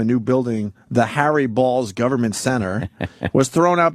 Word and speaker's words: Baals: new building citizen Square the real Harry balls who indeed pronounced his name balls course right here was Fort Way's mayor from 1934 through 47 and again through 51 uh to 54 his descendants changed the pronunciation to bals BS City officials initially